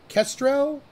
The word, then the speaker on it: Kestrel: So we're joining a map called Kestrel or Kestriel? Yes. How do you Kestrel. pronounce it? Kestrel. There we go.